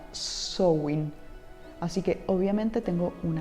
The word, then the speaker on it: Samhain: Eso ahí se pronuncia Samhain.